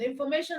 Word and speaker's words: information: Now we have information. Information also ends with tion, and then the syllable before tion in the word information is may. So we have may as the stress syllable. Information, mation.